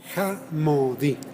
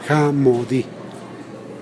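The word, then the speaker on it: jamädi: Jamodi. Se escribe J-A-M-A con diéresis, que es un sonido de O. Homodi. D-I. Jamodi.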